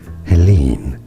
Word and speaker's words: Helene: correct pronunciations in English it is said as Helen Helen stress on that long lean syllable in French for reference it is said